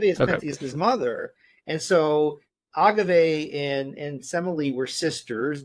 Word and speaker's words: Agave: They'd be cousin cousins because uh Agave or Agav or however you want to pronounce it her name. I like Agave. I know that other people don't but I mean Agave was Semil's sister.